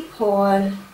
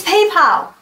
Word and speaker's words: PayPal: all things German do you Germans say hey Paul who is Paul and why are you paying him it's PayPal moving on the other thing that sweets mind